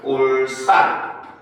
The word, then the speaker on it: 울산: 자, 일곱 번째는 이제 울산이죠. 그렇죠? 자, 일곱 번째는 울산이라고 쓰지만 읽을 때는 울산 요렇게 일죠. 즉 여기서는 바로 뭐다? 된 소리 되기.